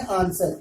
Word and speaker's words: answer: R से पहले W आया, सूरत में W साइलेंट हो जाएगा। राइट में भी यही शक्ल है। और ये है आंसर, ANSWER।